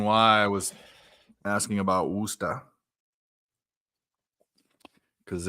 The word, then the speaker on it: Worcester: The way he pronounced it, because you don't say the ER, it's the AR. Worcester.